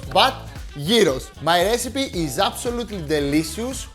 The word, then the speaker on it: gyros: Greek gyros and lesson number one it's not pronounced gyos but Yos my recipe is absolutely delicious homemade and much